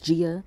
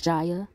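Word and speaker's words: Ji-ah: So I guess it's an accent thing on how you pronounce her name. The American accent is Gia. The Korean accent is Jaya.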